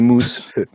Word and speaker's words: Moose: Manifestement, il faut prononcer Mousse.